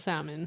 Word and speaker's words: salmon: we can call Lisa it's salmon salmon well he said okay come did I say the L you well she came